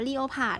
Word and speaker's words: leopard: เปิด เนี่ย นะ คะ หลาย คน ชอบ อ่าน คำ ทำนาย ว่า leopard จริง ๆ อ่าน ว่า leopard นะ คะ เรา อ่าน ว่า เล็บ Let's ฝรั่ง ไม่ อ่าน ว่า เรือ ผ่าน นะ คำ นี้ แปล ว่า